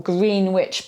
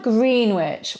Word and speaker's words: Greenwich: then we don't have Greenwich in London or Greenwich palace you know the palace of the Tudors which no longer exists today so no we don't have green which we have Greenwich then the surname I